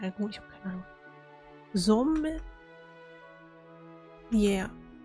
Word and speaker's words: Sommelier: Sommelier. Yeah. Ein Sommelier. Nee, wird französisch ausgesprochen.